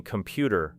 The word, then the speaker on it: computer: Take the word computer and divide it into syllables, not according to spelling alone, but according to sound. because the strongest beat falls on the second syllable, creating computer, while the first and final parts become lighter.